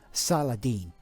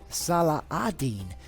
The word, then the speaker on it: Salah al-Din: doing some research, and the European pronunciation is always Salahadin. But if you're from this part of the world, it's pronounced more Salahadin.